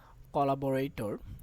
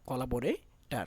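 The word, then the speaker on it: collaborator: নিয়ে সেটা হচ্ছে কি কলাবরাইটর কলাবরাই টর বা এটাকে কলা বরাই টার বলবা কলাবরে টার সঠিক উচ্চারণটা হচ্ছে কলাবরে টার কিন্তু আমরা আসলে বলতে বলতে অভ্যস্ত হয়ে গেছি টর কিন্তু এটাকে টার বলবা টার লাস্টেরটা হচ্ছে কি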